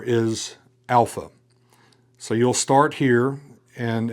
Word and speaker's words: alpha: If you will come down around just as that that is the first letter alpha. It is pronounced as we would pronounce the a in father. So it is an a sound.